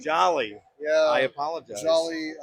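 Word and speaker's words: Jolley: well it's actually pronounced Jolly Jolly yeah I apolog Jolly Holly Jolly Christmas you know Jolly Green Giant that was that was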